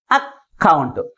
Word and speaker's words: account: Which syllable is pronounced with greater force comparing with other syllable in this word? Second syllable is pronounced with greater force comparing with first syllable in this word. Account.